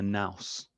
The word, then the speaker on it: nous: another greek word is the nous or the noose i think it's pronounced and the noose is